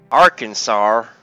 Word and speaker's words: Arkansas: Arkansas cuz she's moving Arkansas yeah that's how you say it Aransas no AR Arkansas Aransas is that anywhere